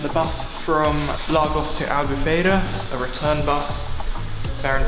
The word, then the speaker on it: Albufeira: Look, that's how you say it, Albufeira, and I had a field day with photos just before sunset, as you can imagine.